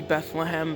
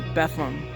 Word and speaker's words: Bethlehem: Bethlehem Bean it's supposed to be Bethlehem but us natives say Bethlem we leave out a couple syllables because that's just how we roll ArtsQuest Center home